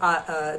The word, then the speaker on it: hour: We pronounce the letter hour, the word are that is hour.